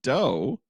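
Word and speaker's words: Dough: I've mispronounced that because there's no a it's d o u g h which is doe beautiful doors yeah beautiful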